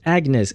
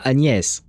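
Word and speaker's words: Agnès: Agnes say see why is she pronouncing it Agnes? If you're speaking French, then you should say the name with the French accent, which is Anes.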